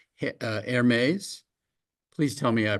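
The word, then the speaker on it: Hermès: Hermes. Please tell me I pronounced that correctly.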